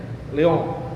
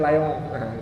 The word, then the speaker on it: Lyon: dia tempuh di Lon tulisannya juga l o toh bacanya Leon di Prancis saya kemarin salah bacanya Saya kira bacanya layong kalau layong berarti orang Inggris baca k ya kalau orang Prancis asli Lon ba di Lyon s2-nya